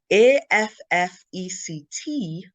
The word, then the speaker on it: affect: opposed to effect so there's both how the vowel is pronounced and the stress in the word you pronounce it correctly